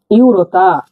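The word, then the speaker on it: юрта: পর্দা পরেরটি লিখছি দেখুন এই অক্ষরটাকে ইউ উচ্চারণ করছি ইউ এইভাবে এরকম ইউ ইউ উচ্চারণ হবে আমরা উদাহরণ পড়লেই বুঝতে পারব ইউরতা ইউরতা মানে তাবু ইউরতা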